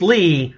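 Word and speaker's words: Leigh: was like yes i had wifi lee is pronounced lee it's a female version of lee okay everybody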